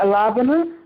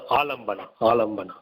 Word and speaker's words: alambana: Yeah, how do you say alabana? How do you say? It's alambana. Alambana. Yes.